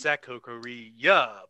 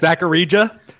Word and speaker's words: Zakkarija: Now, normally, you might think it's Zakokoriya, but the J is actually spelled as a J. Wait, wow. How is that again? Zakarija. Z-A-K-K-A-R-I-J-A. Z-A-K-K-A-R-I-J-A. I-J-A. Zakarija.